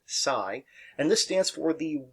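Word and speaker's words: ψ: Now they kind of look like a trident, is the Greek letter psi, which is spelled psi. We pronounce it psi.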